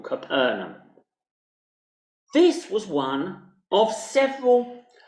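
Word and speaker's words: Capernaum: a place called capernum those of you you who who are familiar with the normal English pronunciation of this as profer in many churches across England it's this place that people often called capernium but it actually was called capernum this was one of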